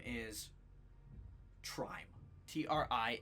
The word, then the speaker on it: Trime: um you get a name the name is trime TR i m e and in quotes it